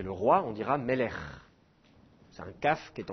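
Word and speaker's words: מלך: en Israël aujourd'hui on va maintenir la double prononciation donc on dira pas Abraham on dira Avraham par exemple on dira pas Melek qui est le roi on dira Melch c'est un CAF qui est en fin de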